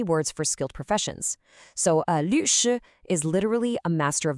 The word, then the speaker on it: 律师: The first syllable, 律, is a fourth tone. That's that sharp falling sound, 律. Then the second syllable, 师, is the first tone we just practiced, high and flat. So it's a drop, then flat.